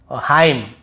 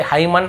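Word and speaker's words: hymn: जैसे autumn column dam हाईम तो यहां पे हमें ऐसे ऑटम कॉलम डैमन ऐसे हाईमन ऐसे नहीं पढ़ना है।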